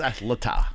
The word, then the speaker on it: Athleta: It's Athleta. Athleta. I pronounce that correctly. The whole time I'm there, You're calling it It was Athletica.